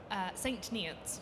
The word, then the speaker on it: St. Neots: How do you pronounce it precisely? St. Neots.